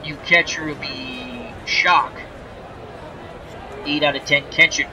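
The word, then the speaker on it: Schalk: in to catch raise shock I believe you that's how you pronounce in SCH ALK he's the new catcher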